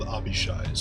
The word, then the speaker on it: Abishai: they are called Abishais. Abishai. That's how it's pronounced.